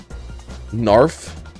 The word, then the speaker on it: narf: lurk them UPS homie narf rhymes with barf no special attack no